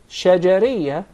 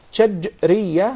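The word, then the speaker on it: شجرية: It's commonly mispronounced. Some of even the Arab would say shajariyah, and there is a big difference between both of them. When there is a sukoon on the letter jim, that's shajriyah, means from the middle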